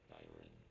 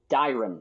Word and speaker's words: Dyron: This area, Byron, Dyron, that's how they pronounce it. You are slowly recovering your abilities. I have still not established what happened to you physically. Don't let your guard down. Your primary objective is to survive. Proceed with the utmost care. Dyron versus Byron. You know, Byron being a name, so I guess perhaps that's a good way to remember how to pronounce it.